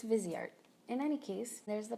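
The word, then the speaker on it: Viseart: the busy arts logo I think that's how it's pronounced Vizier I've heard debates that's busy art versus visored wiser it does sound nice but I think it's busy art in any case there's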